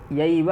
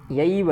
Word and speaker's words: यैव: ठीक, शंकरो नरकायैव, अब यह यैव है, ऐव नहीं है। ठीक है, ऐव ना पढ़ें इसको, यैव है।